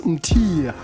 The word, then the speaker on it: Mthiya: And I'm trying to pronounce Mthiya. Did I say it correct? Mthiya.